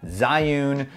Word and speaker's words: Zhiyun: now and that is the zai Yoon or June because that's how you say it apparently and I can't unlearn that the June crane m2